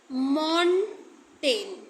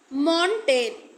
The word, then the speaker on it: Montaigne: तो जो father of एस्से थे वो थे मॉन्टेन स्पेलिंग है MONTAIGNE, मॉन्टेन।